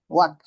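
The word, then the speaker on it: walk: হাঁটা হাঁটার মধ্যে কি এল উচ্চারণ হবে? ওয়াক, না না, হাঁটা হাঁটা। হাঁটা। এল সাইলেন্ট থাকবে, ঠিক আছে? ওয়াক, জি জি।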